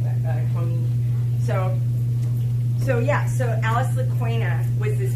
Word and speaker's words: Kony: I'm going to start saying Kony because that's how you say it in Acholi.